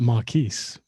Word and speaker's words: Marques: I think Brazilians pronounce that Marquise. Marques, okay. I don't know why, though. To me, that's Marquez, but, Yeah, whatever.